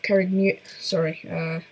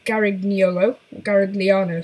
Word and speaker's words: Garigliano: Now, he gained this title from the Battle of Carignolo. He gained this title from the Battle of Garigliano, sorry.